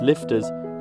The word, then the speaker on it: LFTR: well the technology exists liquid fluoride thorium reactors pronounced lifters deliver all that and